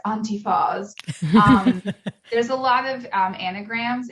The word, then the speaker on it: Antyfas: it pretty well actually I've been ridiculous pronounced as Auntie fawz there's a lot of